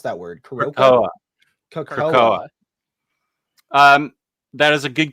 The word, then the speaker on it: Krakoa: How do you pronounce that word? Krakoa.